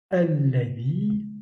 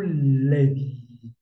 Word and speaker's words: الذي: Alors, vous remarquez que je n'ai pas prononcé alladhi, mais plutôt l'adi.